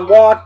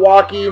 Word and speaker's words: Walk: And my man Tom Walk, that's Walk, not Walkie, not Walker, the E is silent, general manager of this here place, Stevens Rubber Stamp Sign Company.